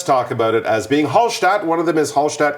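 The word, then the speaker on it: Hallstatt: them it says is halat Austria yes shat is kind of the German or Austrian pronunciation actually more the German pronunciation cuz Austrian German is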